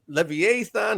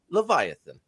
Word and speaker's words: Leviathan: I was saying Leviathan, all sorts of stuff, but I do know now, I feel more educated. It's Leviathan.